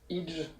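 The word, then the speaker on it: hygge: Il y a une technique dont on commence à entendre parler, vous allez m'aider sur la prononciation, c'est le Idge. Tout à fait, Oug, ça se prononce.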